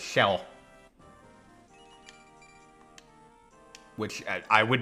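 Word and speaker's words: Kjelle: up um in Awakening su's daughter's name is pronounced shell which I would not have guessed Rez true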